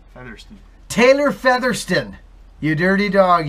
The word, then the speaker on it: Featherston: How do you pronounce that, Taylor? Featherston. Featherston.